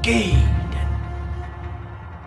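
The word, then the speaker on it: Gaiden: how to beat Ninja giden Ninja GID I haven't heard that name in ages really normally they say ninja Gaden does that mean I'm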